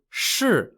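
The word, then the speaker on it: shi: the jiang or shrai are the pieces called shu spelt s-h-i shu in chinese means guards but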